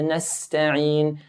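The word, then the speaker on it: نستعين: So Iyaka na'budu wa iyaka nasta'in. Nasta'in. Seen here has a sharp S hissing sound.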